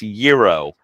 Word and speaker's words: gyro: in America as my customer I know it's Euro I just say gyro because that's how we grew up in the